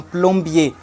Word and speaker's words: plombier: get the pronunciation, So words in French, if it ends with R but it doesn't have an E, don't pronounce the R.